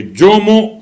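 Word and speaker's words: جمعة: کہتے ہیں جیم پر پیش پڑیے اور میم پر بھی پیش پڑیے، جومو، یا پڑھیے جیم پر پیش اور میم پر سکون، جم، یعنی جمعہ اور جمعہ.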